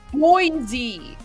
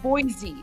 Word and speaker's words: Boise: Oh, guys, we have people who are Okay, so it's pronounced Boise. Okay, so it's not boy, it's Boise.